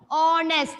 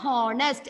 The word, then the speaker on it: honest: That is why I have used an before honest. It is not honest. H is silent.